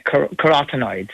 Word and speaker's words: carotenoids: on and the test measures for, is it carotenoids? Did I pronounce that correctly? Yeah, carotenoids.